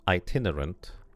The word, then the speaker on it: itinerant: The first sound is like itinerant.